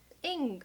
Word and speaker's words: Ng: Is it Ong? One sec. Ing, pronounced Ing. Celeste Ing.